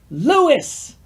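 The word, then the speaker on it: Louis: to State categorically the main character's name is legosi the deer's name is Lewis because the original Japanese had the Japanese pronunciation and people in America are calling him legoshi and ruis please for [ __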